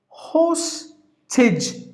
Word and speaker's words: hostage: And then the next word is hostage, 2 syllables, hostage. Now here in this word horizon, rise should be given more volume. Sorry, including the I. Horizon, horizon. Now here, hostage, 2 syllable, you have to give the volume for the first syllable.